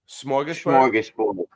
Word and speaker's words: smorgasbord: I want to know how the Canadians pronounce it. Oh, there you go. Unmute you. There you go. Smorgasbord.